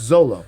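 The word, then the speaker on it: Xolo: It's Zolo. Zolo. Zolo. That's a crazy ass name. It's just an X with the Olo.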